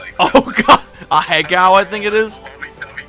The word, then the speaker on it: Ahegao: I don't know if that's how you Oh god, a Hegao, I think it is. Lovey-dovey couple. Oh no. Ahegao. Ahegao? That's how it's pronounced?